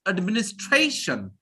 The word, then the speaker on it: administration: pressure on that syllable any word ending with t i o n or s i n so it's Administration Administration all right so everyone